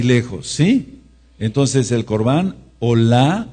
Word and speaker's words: Olá: Entonces el Korban Olá, anoten este sí, O-L-A, con acento en la A, en la fonética, Corbán Olá, es el sacrificio, o era el sacrificio de la mañana y de la tarde.